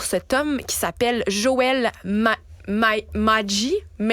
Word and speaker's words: Magee: Et donc, c'est nul autre, cet homme qui s'appelle Joel Magee. Joel Magee. On va le prononcer comme ça. M-A-G-E-E, Joel Magee.